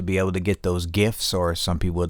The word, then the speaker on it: GIF: I've always pronounced my my G's with a G. You know, if someone likes other men, they're gay. So, GIF.